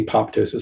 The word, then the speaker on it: apoptosis: Um so uh the pronouncing the second p apoptosis.